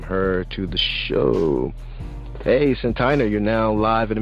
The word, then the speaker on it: Santyna: You definitely said my name wrong. Dang. Yeah, it's Santyna. Santyna. Wow. Mm-hmm. Mm-hmm. See, I knew to say that, but it just came out Santyna.